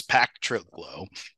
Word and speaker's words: Pactriglo: friend Benjamin and his business then I just pronounced it again I'm gonna have you do it for me patrio P Trigo my name is but the company's name is pack trlo well yeah uh um it's a word I